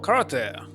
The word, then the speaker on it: karate: Same I had for karate. Karate? I don't understand. E always pronounced like E, not E.